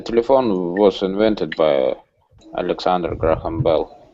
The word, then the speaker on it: Graham: The telephone was invented by Alexander Graham Bell. Graham, H is not Graham pronounced.